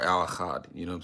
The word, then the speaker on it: Al Achad: For those of you that you see the author of the title is, some if you don't know how to pronounce it, it's Al Achad or Al Achad, you know what I'm saying?